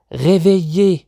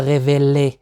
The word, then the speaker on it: réveiller: réveiller إذا لاحظوا لدينا 2 L و L، لا ننطقها révéler، لا ننطقها réveiller.